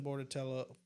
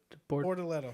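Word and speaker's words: Bortoleto: I think he's gonna be probably better than Bordatello. Is it Bordatello or is it how do you say his name? Bortoletto. Yeah, Bortoletto. I don't know.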